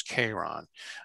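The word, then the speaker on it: Charon: pronouncing which is sharon why sharon and not k-ron because the actual greek way of saying sharon was k-ron well the reason was that christy wanted it when he named it to sound something like the name of his wife charlene so we always use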